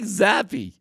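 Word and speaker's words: Zappe: I mean, if they offered a to Bailey Zappy, Bailey Zappy, a fourth quarterback pronounced the E. Why isn't it just Zap?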